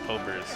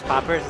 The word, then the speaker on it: Popers: Yeah, it's pronounced Popers. I said it as poppers. Like that's not what you guys were calling it.